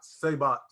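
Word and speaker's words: Saibot: Sabot. Say it with me. Bring in all the brain. Bring in. You have to wait. You have to wait with New Sabot though, because New Sabot is basically just Sub-Zero that just was in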